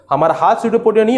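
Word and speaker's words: pseudopodia: हूं मैं, बोलते हैं स्यूडोपोडिया। क्या बोलते हैं, स्यूडोपोडिया, ठीक है। स्पेलिंग जो है पी से चालू होता है, स्यूडोपोडिया नहीं बोलते हैं, तो स्यूडोपोडिया है ना, pronunciation just like स्यूडोपोडिया, right.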